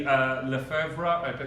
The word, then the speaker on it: Lefebvre: Blue Self-Portrait by Naomi Lefebvre. Is that how it's pronounced?